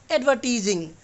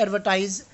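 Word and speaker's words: advertise: हमें मिल जाता है एडवर्टाइज, या फिर आप कह सकते हो इसको एडवर्टीज। अब ऐसा क्यों है, इसके डबल प्रोनाउंसिएशन है, एक तो एडवर्टाइज होता है और एक होता है एडवर्टीज।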